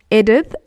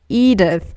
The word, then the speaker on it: Edith: old grannies, and I just hated how people pronounced it. Edith. I'd be like, it's not Edith, it's Edith.